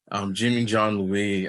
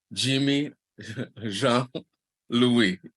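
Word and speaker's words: Jimmy Jean-Louis: Jimmy John Louis, he supports our film festival every year. Dale, hold on. Say his name the correct way, okay? Okay. Please. Okay. Jimmy Jean Louis.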